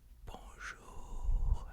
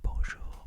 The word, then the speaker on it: bonjour: Okay, I know it has an N there, but you don't pronounce it like an N.